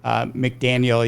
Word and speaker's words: McDaniel: God, I pronounce his name right. McDaniel, yeah.